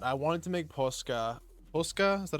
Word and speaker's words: posca: Posca?